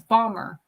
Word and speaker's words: Baltimore: can't even can't even say Baltimore the way my family says it actually I can't it's bomber bomber you go to Baltimore